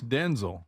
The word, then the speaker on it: Denzel: It's Denzel. Not Denzel.